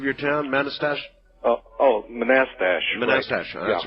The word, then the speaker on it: Manassas: the stuff that's like hey wait a minute pronounce the name of your town Manchester oh oh Manassas that's right thank you uh and uh actually